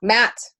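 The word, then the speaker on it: Maat: It's pronounced Matt. Matt.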